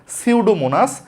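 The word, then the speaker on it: Pseudomonas: এটার উচ্চারণ হল সিউডোমোনাস।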